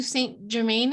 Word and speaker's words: Saint Germain: Do you know who Saint Germain is?